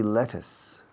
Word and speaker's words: lettuce: black beans in my kitchen is there any lettuce lettuce in your kitchen lettuce how do you